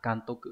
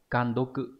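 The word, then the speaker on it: 監督: Còn chữ đốc sẽ đọc là tô cự. Như vậy đúng của chúng ta sẽ là can tô cự nhá. Những đáp án còn lại như là can đô cự, gan đô cự hay là gan tô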